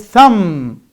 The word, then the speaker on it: thumb: The second word is thumb, thumb.